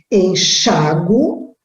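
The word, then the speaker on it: enxáguo: Esse verbo eu posso dizer ou ler como enxago ou enxaguo. Então, se eu pronunciar o A, ele vai, o A tônico, né? A sílaba forte estiver com aquele, onde está o A, onde estiver o A, acento colocado. Agora, se eu pronunciar como forte o U, aí eu não ponho acento algum.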